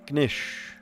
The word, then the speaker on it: knish: Do you pronounce the K in knish?